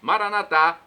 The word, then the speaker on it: Maranata: Jesus para o português Maranata vinde Senhor Jesus nossos irmãos separados irmãos dos católicos os evangélicos ou protestantes dizem Maranata com a tônica na penúltima sílaba nós colocamos a tônica na última não importa o significado